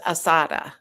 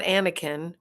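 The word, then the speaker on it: Assata: And I fucked up her name, and her name is Asada. It's Asada Shakur. and I don't even know if I'm pronouncing it right, but I know it's not Anakin or Anada or Anita, and I think that's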